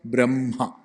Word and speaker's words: ബ്രഹ്മ: ബ്രഹ്മ പറയേണ്ടതോ ബ്രഹ്മ.